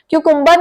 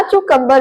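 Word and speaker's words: cucumber: a sound देना है क्यू कंबर क्यू कंबर नहीं बोलना कू कंबर बोलना है नेक्स्ट है सरात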